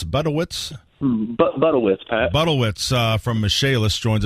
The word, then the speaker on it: Budewitz: Michael, how do you pronounce the last name? Budewitz? Budewitz, Pat.